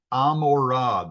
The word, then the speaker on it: Gomorrah: its neighboring town of Gomorrah. Sodom and Amorah, the G isn't pronounced in Hebrew.